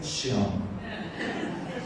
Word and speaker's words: Sean: El nombre se oye, porque se oye como en inglés, Sean. como sean. En inglés sean, pero la pronunciación es Sean. Se ve como Chon, pero Sean.